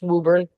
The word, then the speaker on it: Woburn: It's Woburn. Did I say it right? Or Woburn? Yeah, if you live there, it's Woburn.